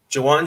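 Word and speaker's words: Ju'Wuan: camp uh everyone's back uh we signed juwan jawan james if i'm saying his name right did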